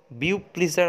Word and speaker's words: Beau Plaisir: তার নাম হচ্ছে বব প্লায়ার, উচ্চারণটা হচ্ছে বব প্লায়, বানানটা BEAU PLAISIR, বব প্লায়ার বা বিউ প্লিজার অনেকে বলে।